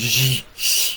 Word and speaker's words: Xi: I mean, damn, fucking President Xi. You're supposed to say it like you're smiling.